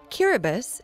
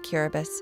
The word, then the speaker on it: Kiribati: the pounding of waves cubus the ti is pronounced like an S is a group of